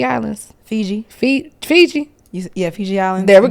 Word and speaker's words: Fiji: I went to, how you say it, the Fifi Islands? Fiji.